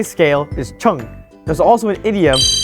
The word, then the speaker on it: 称: And like before, it's all about pronunciation. How you would say scale is cheng.